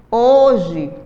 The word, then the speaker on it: hoje: letras e quatro fonemas a palavra hoje também começada com H ela tem quatro letras mas nós pronunciamos apenas três então nós temos quatro letras e três fonemas não é isso na